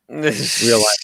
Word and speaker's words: realize: God, I didn't realize that. Wow, it's just something I don't know why I put the emphasis on the wrong syllable on the word realize. Realize.